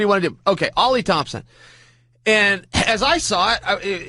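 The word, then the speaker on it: Oli Thompson: my IFB, and said, it's pronounced Ollie. I'm an idiot. Well, we both are. I mean, it's spelled O-L-Y. What do you want to do? Okay, Ollie Thompson.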